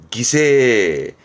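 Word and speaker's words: 犠牲: 발음은 기세. 희생하다 할 땐 기세니스르로 묶었습니다.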